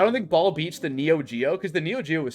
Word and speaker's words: Neo Geo: okay that's the 3do no it's the neo geo i was like oh it rhymes with 3do it's the neochia it's the neo3d oh yo joe no it's it's the neo geo that's an oldie that's